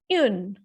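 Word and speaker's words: une: For example, first word is U-N-E. It will be pronounced as yun.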